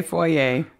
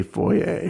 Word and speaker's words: foyer: I think you just said that so you could say foyer. Which is the correct way to say foyer. Yeah, if you don't live in Indiana, where we say foyer.